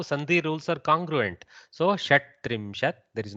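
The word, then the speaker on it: षट्त्रिंशत्: So instead of shad-trimshat, which is tough, going from soft to hard in a without a swara in between is very difficult for the mouth.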